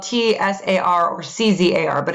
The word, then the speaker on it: czar: be spelled t-s-a-r or c-z-a-r but it's pronounced czar like with a z it came from the